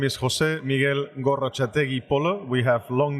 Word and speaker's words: Gorrotxategi: I didn't dare to to to to pronounce that. Well, my my full name is Jose Miguel Gorachi Polo.